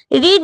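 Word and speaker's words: read: participle form রেড হবে শুধু ওটার উচ্চারণ আলাদা বানান একই থাকবে কিন্তু উচ্চারণ করবে কি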